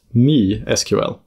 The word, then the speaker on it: MySQL: So MySQL should really be pronounced MeSQL.